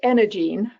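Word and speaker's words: EnergyEne: So and it's pronounced Energene, so the Y is silent.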